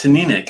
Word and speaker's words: Teaninich: to be the uh to nick i went to uh aqua vitae's pronunciation school before i went to one i was always saying tonight so i'm glad i looked it up it's which shout out to